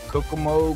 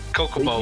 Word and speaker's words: Kokomo: models at what tracks at Kokomo Koch I can never say forget forget Kokomo had it right did I say it right you said it right the first time you say Kokomo's oh